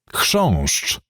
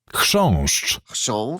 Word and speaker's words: Chrząszcz: Chrząszcz. Beetle. I know that when there's a CH, you don't pronounce the C, so it's pointless having it.